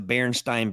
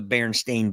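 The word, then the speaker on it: Berenstain: family of bears being known as the barenstein Bears b r n s t i n however if you look now they're actually called the baren stain Bears b r n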